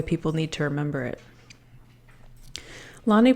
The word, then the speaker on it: Lani: that's the way people need to remember it Lonnie pronounce his name Lonnie that's weird to read out